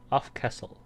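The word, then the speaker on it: Aftcastle: I think that's how you pronounce it. Not Castle. Off Castle.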